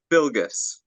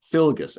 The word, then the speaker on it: Filgas: name brother go ahead tell me how you say it it's filgas filgas filgas sorry thanks